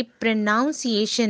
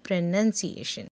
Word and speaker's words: pronunciation: ये प्रोनाउंसिएशन नहीं है, ये है प्रोनंसिएशन। इसे लिखा इस तरह से जाता है PRONUNCIATION, जो पहले के तीन अल्फाबेट्स हैं जिसमें पहला वॉल जो है वो ओ है, मगर यहाँ पे हम उसे यूज़ नहीं कर रहे हैं, ये प्र करके यूज़ होगा।